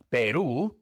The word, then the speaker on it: Perú: Perú en inglés se pronuncia Perú.